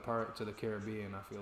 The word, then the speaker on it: Caribbean: We put that we put the main emphasis on the at part of Caribbean and you put it on the it part.